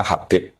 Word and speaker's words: Habib: Itu di harakatnya kitab itu ada yang nulis Hubair. Tapi yang benar Oh nggih, yang benar itu bacanya Habib.